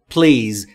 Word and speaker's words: please: تلفظش رو دقت کنید. Please.